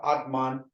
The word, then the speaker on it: Atman: means M and again Atman um it's spelled a t m a n but we always say Atma Atma so the N is a silent word but it's spelled Atma